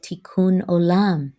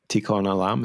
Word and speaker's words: Tikkun Olam: my ancestral tradition of Judaism, we call it Tikkun Olam, to repair the broken world.